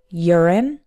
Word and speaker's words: urine: of words that start with you but are pronounced with a your sound for example uranium as well as the word family of urine urinate and urologist urine is the noun urine